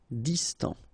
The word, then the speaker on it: distant: Final T not pronounced. Distant.